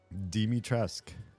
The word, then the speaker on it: Dimitrescu: Dimitrescu, technically, with the U at the end. You pronounce the U.